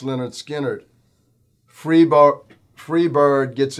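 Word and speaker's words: Lynyrd Skynyrd: start with this one leonard skinner pronounced leonard skinner free bo free bird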